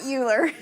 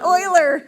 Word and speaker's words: Euler: how to say it it's not uler it's Oiler it is Oiler Oiler is a mathematician